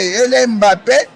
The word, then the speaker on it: Mbappé: Igual o Mbappé, as pessoas pronunciam Mbappé. Ele é Mbappé porque o nome banto.